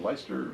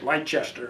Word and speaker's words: Leicester: It's pronounced Leicester, but it's when you see it, it looks like it's Leicester or something.